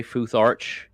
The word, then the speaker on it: Futharch: And I say Futharch with a CH sound on purpose because that is what the runic alphabet for American English is purposely called.